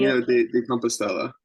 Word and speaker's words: Camino de Compostela: But let's start with the Camino del Compostela. I don't ever say it right. You'll be Camino de Compostela. De Compostela.